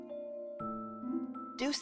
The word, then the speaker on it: Deuce: seeing the classroom deuce is pronounced like use like it's no use i see it